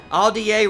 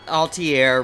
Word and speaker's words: Atelier: Aldier Ryza, that's how it's pronounced, not Altier Ryza.